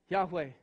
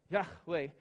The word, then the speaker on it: Yahweh: with the same God Yahweh Yahweh as it actually is pronounced there in the Hebrew some of your translations